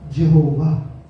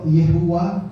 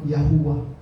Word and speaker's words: YHWH: Kung babasahin, yung iba, sabi nila Yahweh. Okay? Yung iba naman, mali din yung pagka-pronounce, ginawa Jehovah. Actually, mali. Kasi walang J sa Bible. Okay? Walang J sa original na Aramaic. So, Yehuwah or Yahuwah. Okay? Mas tama.